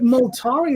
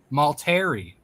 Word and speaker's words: Maltari: But Moltari is so much like Atari. But that's that's just it. exactly what Maltari was is in my head. wrong. That's not how you pronounce Oh. it. Oh, how do you pronounce it? Maltari.